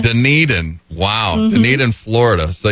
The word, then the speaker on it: Dunedin: Well, I'm glad you pronounced it, because I was like, I'm going to butcher this name. Yeah, Dunedin. Dunedin.